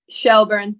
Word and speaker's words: Shelbourne: when you signed for is it shelbourne or shelburne i don't want to pronounce that incorrectly shelburne yeah um so obviously that